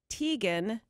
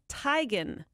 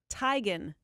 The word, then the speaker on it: Teigen: saying her name wrong it is not Teigen it's Tigan I met her first name Chrissy yeah Tigan Tigan yeah she said